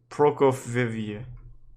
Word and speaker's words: Prokofieva: Alaya Prokofieva. Prokofieva. Yep, that's how you say it.